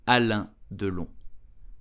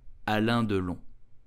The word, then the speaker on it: Alain Delon: So how do we pronounce his name correctly in French? You would say Alain Delon. Alain Delon.